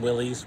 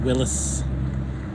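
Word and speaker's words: Willys: and and Willies Willis my generation is always pronounced them Willies but the uh the oldtimers I always say it's pronounced Willis so um I'll be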